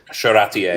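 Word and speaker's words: Charretier: And I think I'm pronouncing that right. Charatier.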